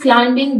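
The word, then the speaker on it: climbing: है last he इज क्लाइमिंग the mountain वो पहाड़ चढ़ रहा है क्लाइमिंग का बी साइलेंट है ये है क्लाइमिंग इसमें बी की साउंड नहीं आएगी तो यहां पर हमने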